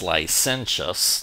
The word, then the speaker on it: licentious: depraved villainous or base our next word is pronounced lenus not Le licentious and it means in a broad sense unrestrained lascivious libertine lwd it sometimes has sexual Overton not always more Broad ly lenus generally just means going beyond your customary or